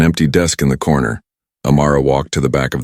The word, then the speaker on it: Amara: "Amara," she said, saying the name wrong. It sounded harsh the way she said it. "It's Amara," the girl corrected softly with the emphasis on the second part.